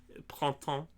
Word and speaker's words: Printemps: Printemps is technically how you say it.